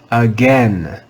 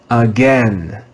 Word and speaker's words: again: as a digraph but we read them with the short e sound in america we read this word as again again again this is another